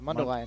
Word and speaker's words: Mundelein: do you say that town then let's see Mundo Island oh that's where my grandparents live Mundelein Mundelein Mundelein Illinois plays an Iowa Western Community